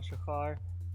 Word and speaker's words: Shachar: name my name is Shekhar it's pretty much not pronounced how it's spelled it's all good don't